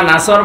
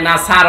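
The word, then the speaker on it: نصر: এই যে যারা সূরা নাসর পড়েছে আমি তোরুল্লাহ বলেছি এখানে আছেন দিয়ে উচ্চারণ করলে নাসার মানে শকুন বা ইগোল অথচ নুন সদর নাসর মানে সাহায্য এখানে আল্লাহ শব্দের আগে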